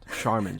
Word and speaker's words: Charmin: Charmin, Josh. Yeah. Why is it spelled like that if they're going to pronounce it like that?